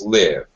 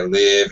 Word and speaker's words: live: When it's an adjective, it's live. I saw a live snake in my garden yesterday. I watched a live performance of a rock band last weekend. Okay, so it's a little confusing.